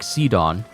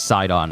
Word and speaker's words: Sidon: standing there and it looks like seedon or is it side on I think his name is sidon I've just been pronouncing mispronouncing it this whole time and the Zora Kingdom